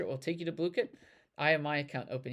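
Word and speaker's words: Blooket: It's not Blukit. It's Blukit.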